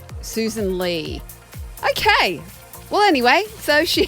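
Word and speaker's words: Sussan Ley: Well, I heard a guy on Sky Susan Lelay and it's but it's double S and it's L E Y. Is it? So is it Lei or is it Lee? Lee was how it's pronounced. Susan Lee.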